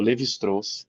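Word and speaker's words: Lévi-Strauss: Tem um texto, ele é curtinho, é do Levistros, se escreve Levistraus, chama-se raça história.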